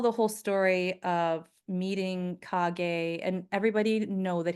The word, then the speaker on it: Kage: and everybody know that his name is pronounced Kage, not Cage. Okay. So I think I'm going to print that in the book so people are like reading it as Cage, but it's Kage.